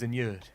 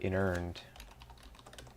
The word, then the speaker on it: inurn: Seeming to the dead, the Jews of pyre, of tomb, of bones inured. So I said bones inured instead of inurned.